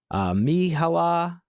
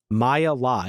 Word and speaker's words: Myha'la: Do you know how to pronounce her name? I don't. Myha'la. It's Myha''La. I don't know if it's like a one name, like Prince type of deal or what, but her name is Myha'la.